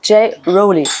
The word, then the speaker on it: J-Rollie: auch sprechen sehr gut und Jay Roli ist auch richtig ausgesprochen das ist korrekt sehr gut aber jetzt